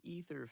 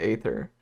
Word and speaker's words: Aether: way again oh hey ether fell in the water is it pronounced ether because I've always pronounced it Aether I don't know why